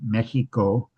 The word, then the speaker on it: Mexico: Um we today refer to uh Mexico with a with a KS sound. um the Spanish pronunciation Mexico um and which is what um is the current pronunciation from from the locals.